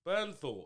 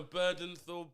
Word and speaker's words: Bernthal: How do you say this motherfucker's Bernthal? How is it hard to say? That's what I said. You were going to Burdenthal, Birkenstock, like Birkenstock. John Birkenstock with Rami Malek and Rachel Bushnell.